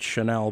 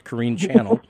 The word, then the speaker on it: Corine Channell: channel c-h-a-n-n-e-l-l i'm sure a lot of people pronounce that chanel but either way it's kareem channel and the book is called the road beyond